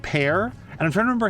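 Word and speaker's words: Peer: His first name is spelled P-E-A... Sorry, P-E-E-R, but it's actually pronounced Pear.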